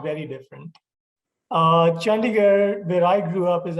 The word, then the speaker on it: Chandigarh: So you were born and raised in Chandigarh. I pronounced that properly, India? Yeah, you did it well.